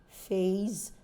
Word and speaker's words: phase: face phase phase so before you're pronouncing face as in f-a-c-e be careful enough to know that it's s and when it is p h a s e the S there changes to Z so you can't term